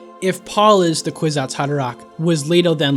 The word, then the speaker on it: Kwisatz Haderach: The whole point of what the Kwisatz Haderach, is that how you pronounce it? Kwisatz Haderach, yeah.